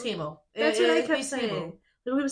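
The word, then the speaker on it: Temu: go I think you they pronounced it TAMU they're like TAMU TAMU it's Teo that's what I people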